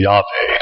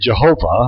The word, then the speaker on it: Yahweh: No hay un problema en particular con eso, But no Hebrew would have ever said that. pero ningún hebreo hubiera dicho eso. A Hebrew would have said Yahweh. Un hebreo hubiera dicho Yahvé. And so when I am reading the Hebrew text, Así que cuando estoy leyendo el texto hebreo, I say Yahweh.